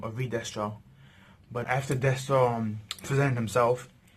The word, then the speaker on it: Destro: So, or Destro, I should say, he pronounced his name, or Destro.